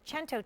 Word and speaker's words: cento: I called it the chento chain because I looked at him and said okay so how do you say a hundred in Italian he said chento that Cento chain which